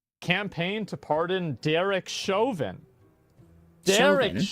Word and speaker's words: Chauvin: Chauvin, that's how you say it.